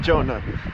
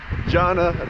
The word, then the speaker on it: Jonna: just dropped me off that's how you say her name not jonah jonna just dropped me off